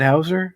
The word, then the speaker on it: Hauser: Paul Walter Hauser, is it Hauser? Yeah, Hauser. I'm the worst with pronouncing names.